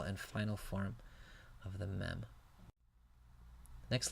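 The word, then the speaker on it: מם: English L la mid the next letter is a mem pronounced like English M mem the differentiating characteristic of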